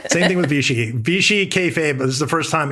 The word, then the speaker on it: kayfabe: has a theory about, and I'm going to pronounce this wrong, but I think it's kayfabe or kayfabe.